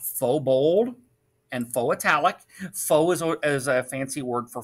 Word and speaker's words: faux: it is pronounced follow that x is silent now i'm going to